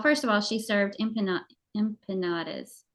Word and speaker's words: empanadas: And I'm telling you, she served, well, first of all, she served empanadas. How do you say that word? Empanadas.